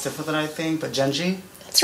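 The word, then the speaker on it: Jenji: botch this name cuz I feel like it's pronounced different than I think but jeni that's right that is correct I feel like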